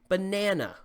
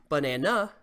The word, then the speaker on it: banana: when you say them for example banana it's stressed on the second syllable banana we don't say banana or banana proper word stress is